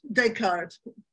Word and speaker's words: Descartes: in if the philosophical dictum of discard Descartes French pronunciation I think therefore I